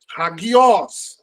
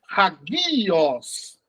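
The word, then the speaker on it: ἅγιος: Então, ele é pronunciado no O mesmo. Entendeu? Perfeito. Hagios. Hagios. Se fosse um ditongo, seria hagios.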